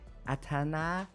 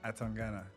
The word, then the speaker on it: Atangana: friend, and also a super talented boxer, Atangana. I need to pronounce that properly. how do you pronounce it? Atangana.